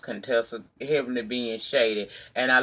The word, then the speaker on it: Contessa: falling out with doctor as you call a con Tesla but you know it's pronounced Contessa heavenly being shaded and